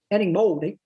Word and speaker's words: Erín Moure: this name and then plus in Galian my name is Eddie Moldi And then in English it's Eron Mor.